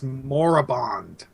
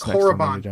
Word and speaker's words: Korriban: Set on Korriban and all that. Any era, any theme. Just as long as they refer to Korriban as Korriban and not as Moribond. Moribond. Ugh. So yeah, it's Korriban, damn it.